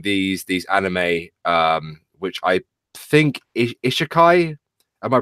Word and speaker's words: Isekai: Maybe it's because I've been watching these anime, which I think Isekai. Am I pronouncing it correctly?